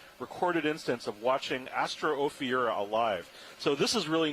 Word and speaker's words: Ophiura: the first recorded instance of watching Astro Ophiura alive.